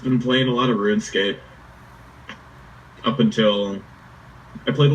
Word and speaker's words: RuneScape: Because when I was a kid, that's until someone verbally told me that it's pronounced RuneScape. I always thought it was RunEscape.